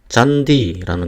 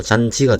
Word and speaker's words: 잔디: 그런데 만약에 형태소 내부에서 일어난다면 어떻게 됩니까? 잔디라는 것이 있죠. 예를 들어서 잔디 같은 이게이 안에 형태소 내부 안에서 일어나면은 잔지가 돼야 되는데 그렇게 발음하지 않습니다. 그래서 잔디하고 혀가 좀 많이 움직여도 그대로 발음해 주는 이유는이 뜻을 온전하게 그 지키기 위해서 그렇습니다.